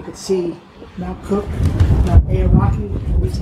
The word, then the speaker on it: Aoraki: If it wasn't socked in and drizzling, you could see Mount Cook, Mount Aoraki, at least how you say it, which is the Maori name for the mountain that's pierced the clouds.